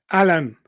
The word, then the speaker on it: Alain: Elaine. Alan. Like say it like in English, you know.